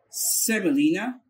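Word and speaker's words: semolina: سيمولينا سيمولينا سيمولينا.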